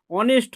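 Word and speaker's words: honest: ক্ষেত্রে এটা আমরা হ টা উচ্চারিত হয় না অনেস্ট হয় তাই না তো তার আগে আমাদের এন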